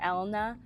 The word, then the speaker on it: Elena: It's spelled E-L-E-N-A, so Elena or Elna, right? But her name's Elna.